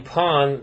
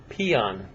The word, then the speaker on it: pawn: pawn and a king sometimes people mispronounce this name pawn they say pian or pion my my fiancee in